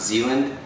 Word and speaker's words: Zeland: to vet him madam I think it's pronounced Zealand and he is the